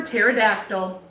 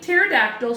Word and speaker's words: pterodactyl: P is for pterodactyl. Ptolemy, the psychic pterodactyl, struggles with psoriasis. That was a lot of silent P's.